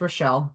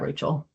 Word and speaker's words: Rochelle: And it's pronounced Rochelle, not Rachel.